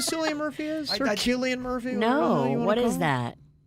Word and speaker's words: Cillian: names are easily mispronounced silly and is actually pronounced Killian it's not a big